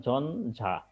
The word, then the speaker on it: ঝঞ্ঝা: ন হবে আর জ টা ঠিকই থাকবে যেমন ঝঞ্ঝা সহজ আছে এগুলো ঝঞ্ঝা অর্থাৎ ইয় টা নয়